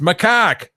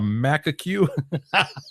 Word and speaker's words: macaque: Yes, is a macaque, which is pronounced macaque. Webster murdered the name, calling it a macaque.